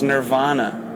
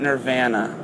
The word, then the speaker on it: Nirvana: Canadians or anything, but the way we pronounce the name of the band is Nirvana. It's not Nirvana. So, I don't know if it's lost in the translation or what, but it's Nir- Nirvana.